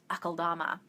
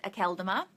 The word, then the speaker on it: Akeldama: I say it Lord Akaldama. The very first audiobook, Emily says it Akeldama, and that's wrong as far as I'm concerned.